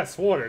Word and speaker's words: SWTOR: Well, yeah, Sworder. That's how you pronounce it.